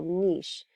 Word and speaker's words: niche: ethos share and ecological niche this word can be pronounced niche or niche but what this is